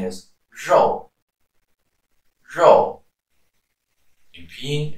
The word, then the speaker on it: 肉: So the R in pinyin is pronounced as zh, not z or le, as you will sometimes hear.